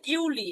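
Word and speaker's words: Juli: হয় ইউনি দেখেন জুনকে ইউনি জুলাইকে বলা হয় ইউলি এটা মনে রাখার হচ্ছে যে জুনের এই তিনট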